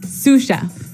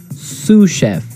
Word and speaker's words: sous chef: That brings us to our second word, sous chef. Sous chef. Sous chef. Sous chef. S-O-U-S. So the S is silent because it's like a French word.